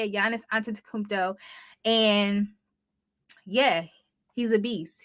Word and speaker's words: Antetokounmpo: I always mess up his last name, but Antetokounmpo, I believe is how you say it. Giannis Antetokounmpo.